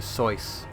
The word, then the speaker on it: Seuss: dr seuss is that if i am not mistaken it's pronounced dr seuss but nobody says that okay um ripper blades